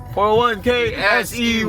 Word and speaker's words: 401K$EY: bro Let's Get It also That's How You pronounce it 41 k sey Yes Sir pre late na tayo o ah